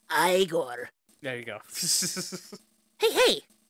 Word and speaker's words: Igor: uh a bit of igore from um uh Young Frankenstein oh no no no it's actually pronounced aigor there you go hey